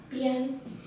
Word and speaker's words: 边: after it's pronounced as bien, bien, and then we can need edge or side or border or limit.